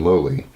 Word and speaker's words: Lola: 2 daughters named Anna and Lola, although in the mountains they would pronounce that Annie and Loli, and then a son named William.